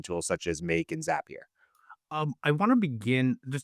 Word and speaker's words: Zapier: Um, No, I think it's important actually because it's is it not Zapier, but is it Zapier like happier?